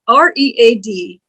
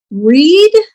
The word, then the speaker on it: read: This word, R-E-A-D, can be pronounced as a verb both in the present and the past. Read or read.